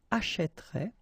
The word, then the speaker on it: achèterait: will change the pronunciation, so you will get this e, achèterait, achètera, achètera, achèteront, achèterait, achèteront.